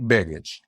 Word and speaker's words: Begich: advantage for the Democrat, Mary Peltola, if I'm pronouncing that correctly. Yeah. So it was Nick Begich.